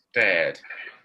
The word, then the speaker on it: stared: Remember, you only say ed after t and d sounds. Stared.